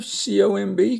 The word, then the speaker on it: comb: Notice you don't say climb, you just say climb, so the B is silent. Climb the hill. Comb your hair, C-O-M-B, comb.